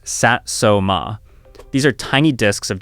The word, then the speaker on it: Satsuma: Number five, the Satsuma button, pronounced Satsuma.